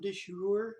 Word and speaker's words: de jure: This week our discussion is on de jure segregation. That's how it's pronounced, de jure segregation.